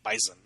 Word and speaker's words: bison: Say it with a Z. Bison. Bison. But it's spelled bison, but they say bison.